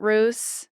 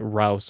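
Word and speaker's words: Russe: on the brand when she changed the pronunciation of the name to make it sound more vintage where it wasn't Charlotte Roose it was Charlotte Rouse or Russ or whatever was yeah yeah yeah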